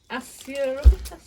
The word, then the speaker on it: Asarum: This is Assurum. That's how you say it. Sarum. Asarum.